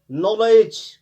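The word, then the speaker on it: knowledge: इसी तरह आप देखेंगे नॉलेज, के से स्टार्ट होता है, के साइलेंट रहता है।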